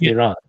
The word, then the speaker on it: Iran: It's pronounced Iran. I'm gonna call it Iran. Yeah, you can call it whatever you want. If you're gonna call it Iran, then I'm not gonna talk to. All right, let me ask you a question. Do you think there's a difference between Do you think there's a difference? Pronounce the name correctly. It's Iran.